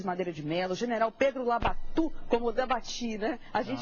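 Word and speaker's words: Labatut: também grandes comandantes o comandante o General Pedro labat meu velho professor gente deve chamar Como o povo chamava na época e chamava labatu e chamava labatu não era labat não é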